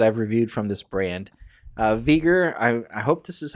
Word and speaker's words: Veger: Veger, I hope this is how you pronounce it. It's Veger.